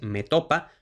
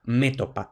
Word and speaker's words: metopa: Esto lo que quiere decir es que, bueno, pues la grafía y la pronunciación recomendada es metopa, pero también es aceptada métopa, esdrújula.